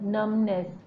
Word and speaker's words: numbness: num B is silent numbness B is silent here so going to write few such where the B is silent so I'm sure that